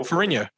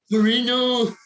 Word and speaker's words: Ferrigno: I'm going to kill Ferrigno. Ferrigno is not how you say his name. It's an Italian name. It's Ferrigno. Whatever. Fucking don't Ferrigno. Ferrigno.